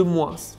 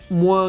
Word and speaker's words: moins: En général, dans une comparaison, on ne prononce pas le S de plus ou de moins, sauf quand le mot suivant commence par une voyelle. D'ailleurs, la prononciation sera Z. Plus beau que, plus intéressant, moins grand que, moins ouvert.